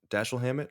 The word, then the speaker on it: Dashiell Hammett: So, like, one of the interesting things about this movie is, it's based on a is it do you pronounce it Dashiell? Dashiell Hammett? That sounds right.